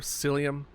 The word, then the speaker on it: psyllium: Have y'all ever heard of psyllium? Like, it has a silent P in front of it.